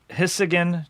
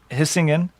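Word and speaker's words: Hisingen: as jacob rolled out of the factory and hissigan gothenburg yes yeah that's a perfect pronunciation and he's singing we would say yeah hissing in yeah perfect and volvo means i roll in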